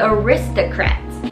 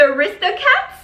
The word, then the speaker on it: The Aristocats: it is it's called the aristocrats the wrist the cat wait how do you say this the aristocats aristocats aristocats what can